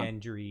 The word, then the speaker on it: Gendry: And he's voiced by Gendry, or I always say it wrong. Gendry. I was right the first time.